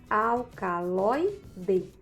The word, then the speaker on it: alcaloide: Vocês podem perceber que aí nessa sílaba, a sílaba tônica, que é justamente aquela que recebia o acento gráfico, é a penúltima sílaba. Logo, nós entendemos que essa palavrinha alcaloide, ela é uma paroxítona.